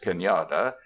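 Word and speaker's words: cañada: nook a shallow valley is Kenyatta pronounced Kenyatta but this lingers now principally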